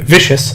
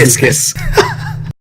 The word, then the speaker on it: viscous: Deluge, Waterbane, a bane that drenches all enemies in the target area with vicious moisture. Viscous. It is. I said it wrong twice. This is Viscous.